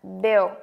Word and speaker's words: Bill: Nhớ y ngắn nha. Bill. Trong phát âm thì các bạn phải phân biệt được âm y ngắn và âm y dài. Nếu không các bạn sẽ không phân biệt được là i với lại e.